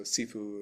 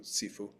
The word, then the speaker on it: Sifu: So sefue with a hard S is Cantonese and because of Bruce Lee coming from the area around Hong Kong, that's why it's pronounced that way.